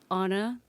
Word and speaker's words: Åna: up on the island of Guam and um Anna the letter ah is uh from the indigenous language of Guam called Chamorro and it's spelled ah n a or ah and that's pronounced Anna and then I'm tree and my name is